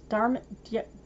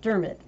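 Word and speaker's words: Diarmaid: by what's uh honey how do you pronounce this dharma dermod yeah dermot thank you that's my name it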